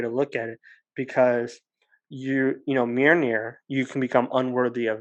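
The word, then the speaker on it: Mjölnir: And I thought unworthy was kind of a cool word or a cool way to look at it, because Mjolnir, you can become unworthy of that.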